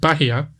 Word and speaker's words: Bahia: We move on next to the segment called Bahia, which is strange because it's named after the Brazilian state, which is pronounced Bahia.